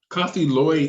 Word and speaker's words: Coffee Loy: Yeah, it's Coffee Loy. So yeah, you're saying it right. Now, what's your background with that name? Coffee Loy is...